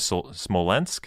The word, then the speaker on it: Smolensk: word for it um essentially the town of smolensk that's the pronunciation i i'm leaning to you nathan for